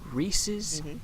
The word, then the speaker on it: Reese's: thick ass skulls that maybe, since these things rhyme, and the word that it rhymes with is pieces, then maybe the proper noun in this whole equation is Reese's.